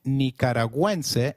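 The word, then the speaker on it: nicaragüense: on you in nicaraguansea goo when followed by another vowel like in GUI is pronounced like in Gwen so let's try saying nicaraguense again it is nicaraguense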